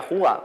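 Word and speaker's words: hygge: no sé si conocéis que se escribe jeje pero se pronuncia jugar nos dan ese estilo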